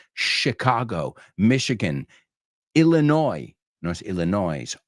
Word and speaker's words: Chicago: Fijaos que la CH en inglés es SH, Michigan, Chicago, Michigan, Illinois, no es Illinois, Arkansas son los que suelo oír pronunciados mal.